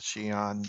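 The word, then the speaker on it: Xi'an: just out of curiosity because it's that's how you would pronounce the Shan the the town in China this was x i an Shan Shan actually that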